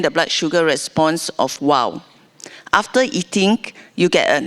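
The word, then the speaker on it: W0W: That's the reason why we call it WOW. But it's spelled W, zero, W.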